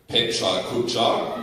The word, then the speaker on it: Pecha Kucha: In Germany, we pronounce it Pecha Kucha. And that might be a bit of my Swabian accent coming through there.